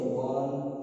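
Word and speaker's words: one: जैसे वन eyed man, देखिए भले ओ से लिखा गया है, लेकिन इसका उच्चारण व से हो गया, इसलिए इसके पहले ए लगेगा। ए वन आइड मैन।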